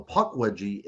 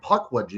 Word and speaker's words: Pukwudgie: But even more stunning, I think, is whenever you look at the word Pukwudgie, and the very first syllable on that is puck.